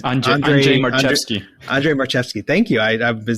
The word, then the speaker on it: Andrzej Marchewski: I'm not sure how to pronounce his name, but it's Andrzej Marchewski. Andrzej Marchewski.